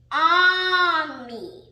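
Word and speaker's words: ami: say prank in french the word is army my mom says you say it like this on me i love french everything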